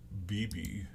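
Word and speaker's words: Bibee: Now, Tanner Beebe, that's how you pronounce it, he was in 25 games, 142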